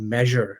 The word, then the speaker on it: Meazure: And then the last big area is our certification technology, and we use a technology called Measure Learning, which is spelled with a Z.